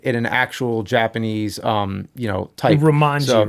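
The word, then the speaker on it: Rōmaji: So I skipped over Romeiji, and or how it's pronounced, Romeiji, because it's basically like that is the English text. Yeah. So I'm reading it in an actual Japanese, type. Romanji, right?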